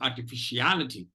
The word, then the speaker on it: artificiality: There are two secondary stress syllables, are and fish, precisely because if fish is not there, if fish is not stressed, look at the cursor here, then you'll have T, fish, and E as unstressed syllables. So it is artificiality.